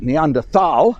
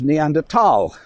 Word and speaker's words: Neanderthal: they said, is it Neanderthal as it's spelt, or is it Neanderthal? And of course it was Neanderthal, for the reason it's in the first one was found in the Neander Valley, and Tal, apparently one or the